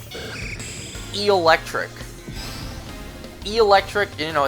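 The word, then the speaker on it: Eelektrik: You put an emphasis on the eel part since, you know, it's based on an eel. Electric.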